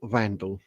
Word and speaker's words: Wandelt: accept that she's Julia Vandal. I need to keep I keep calling her Walt and I only say Vandal because Danny from the will Julie Wondelt Facebook page told me that's how you pronounce it.